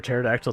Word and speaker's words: pterodactyl: Let's see, why can't you hear a pterodactyl in the bathroom? Because the P is silent.